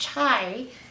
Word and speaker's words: chai: sip sky sip sip skye sometimes pronounced chai is a spicy tea so they're sipping on